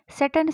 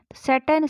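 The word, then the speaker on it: Sutton: हमारा जवाब है, सटन स्पोक द वर्ड्स। यहाँ पे देखें आप, टी सामने दिया हुआ है पर मैं इसका उच्चारण नहीं कर रही हूँ, यानी यह टी साइलेंट है। सटन spoke the words, सटन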